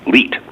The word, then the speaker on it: Leite: it correct it is leet le ite and that rhymes with eat which I do a